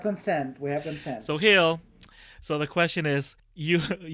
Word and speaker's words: Gil: So question 3 came from Hill Pineda _ on Twitter. Hill is spelled GIL.